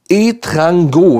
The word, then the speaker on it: Etrango: Er heißt Etrango, wenn richtig ausgesprochen.